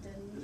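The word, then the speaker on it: Denys: And it's spelled funny. Dennis. Sounds like Denny. It is Dennis, actually, but that's how it's spelled.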